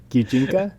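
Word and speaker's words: 擬人化: Is that how you pronounce it? I've never actually said it out loud, but Gijinka? Yes.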